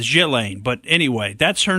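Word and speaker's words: Ghislaine: I don't think it's I don't think the S is now pronounced I've seen it's either killing or jillaine and I'm going with jillaine but anyway that's her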